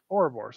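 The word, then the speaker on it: Ouroboros: again uh I keep I keep saying the name wrong how the would I know the the aura Boris yeah yeah or Boris okay I said it right this time yeah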